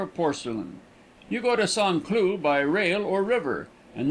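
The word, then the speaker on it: Saint-Cloud: a small village just outside of St Cloud pronounced son clue it is given up to the manufacturer of porcelain you go to sanlu by rail or river and then drive over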